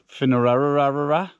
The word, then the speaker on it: Finnararagh: Um, today's hike on my 100 highest list is Finerara. And that is how you pronounce it.